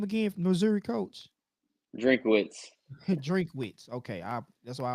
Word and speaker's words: Drinkwitz: Missouri coach, Drinkwitz, Drinkwitz.